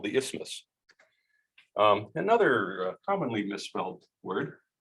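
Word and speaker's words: isthmus: the middle by a narrower Bridge called the ismos um another commonly misspelled word it's it's even hard to pronounce it's the ismus i s t h m u s istus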